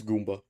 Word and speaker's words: gumma: It's gumma.